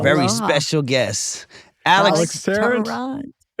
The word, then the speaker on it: Tarrant: Tarrant. Oh, I said your name wrong earlier. Yeah, Tarrant. Tarrant. Yeah.